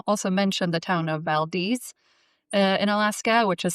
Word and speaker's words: Valdez: But I also mentioned the town of Valdez in Alaska, which is spelled like Valdez, Yeah. but it's pronounced Valdez.